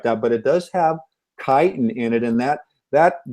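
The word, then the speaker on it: chitin: in the cell walls called kiten people who haven't heard of kiten it's it's spelled Chi t i n and kiten actually is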